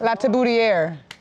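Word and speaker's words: Latibeaudiere: L'At Ta Booty Air.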